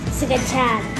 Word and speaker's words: scacciata: Scacciata. Say it like real Italian, like Scacciata.